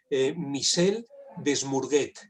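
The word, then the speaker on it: Michel Desmurget: Es que la pronunciación en francés es un poco complicada, pero se llama en concreto Michel Desmourguet.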